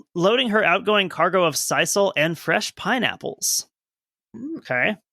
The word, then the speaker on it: sisal: The stevedores began loading her outgoing cargo of sisal. What is that? Sure. Probably an agricultural product. Something that comes along with the shipping of sawmills, you know. Sisal, it's pronounced.